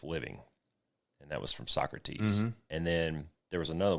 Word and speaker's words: Socrates: from like Aristotle and Socrates and all those I know it's Socrates Socrates yes but but I say it I say like it's spelled okay so and as